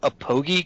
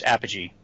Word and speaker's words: Apogee: OGE e comics yeah we've heard it butchered quite a bit of like telling markers we'll call it can I talk to the president of a pogey comics like no it's Apple its Apogee its Apogee comics but uh we've heard